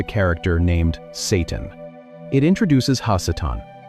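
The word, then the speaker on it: הַשָּׂטָן: It introduces Hassetan. The harsh breath of that ha syllable changes everything. In Hebrew, ha simply means the and Satan is a common noun.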